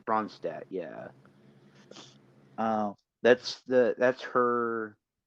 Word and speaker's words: Ronstadt: Yeah, I can't pronounce her last name. That's I who think I have down as yeah, well. it's Ronstadt.